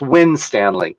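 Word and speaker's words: Winstanley: screen but it's actually it's a small town in northern england and it's pronounced wind stanley but trust me i've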